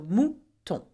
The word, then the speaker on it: mouton: Now, O-U together make the sound ou, and on, O-N make the sound on. Okay, so mouton.